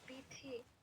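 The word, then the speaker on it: বীথি: মম নাম বিথি বিথিহি । বিথি । হ্যাঁ, বিথি । দীর্ঘিকার আছে শেষে, দীর্ঘিকার থাকলে দীর্ঘ উচ্চারণ হবে, মনে থাকবে।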